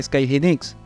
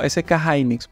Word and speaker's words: SK Hynix: Hay mucha historia detrás de SK Hynix. Algunos lo pronuncian como SK Hynix, pero así fue como se lo escuché al americano, SK Hynix.